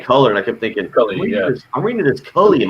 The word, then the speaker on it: Culley: First of all, you're not even pronouncing the new coach's name right because we don't know him. It's Culley, David Culley.